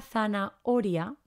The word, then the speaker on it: zanahoria: el medio así que cuidado porque no tiene ese sonido aspirado que hacemos no zanahoria hay que recordar pronunciarla bien y escribirla con la